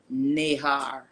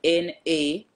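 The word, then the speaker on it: נהר: It says in Hebrew, it's called Nahar. And it's spelled N-A-H-A-R, Nahar.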